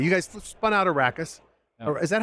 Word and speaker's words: Arrakis: ago so anyway you guys spun out a rackets is that how I say it I'm gonna say it right yeah tell me what arrakis is and why it spun out of gelato